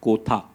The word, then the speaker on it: Kotha: guys to tell them it is king of kotha and not the usual Hindi pronunciation um so it's in